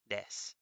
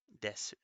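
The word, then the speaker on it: です: Like if you hear someone say des, des, s, desu, or you'll hear other people say desu, and both again are right. Um, um, but most people just say des, des. Yeah, a lot of the time the U can be pronounced that way.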